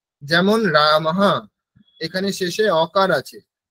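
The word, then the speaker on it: रामः: বলি তাহলে কি হবে মম নাম রামাহা ঠিক আছে এখানে বিসর্গ হবে আর যদি লতা শব্দ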